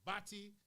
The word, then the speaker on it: batty: I guess maybe the Caribbean as a whole can be extremely homophobic, and Batty, as you see there, would usually be pronounced Bati, and put man in the front of it to describe people who are gay.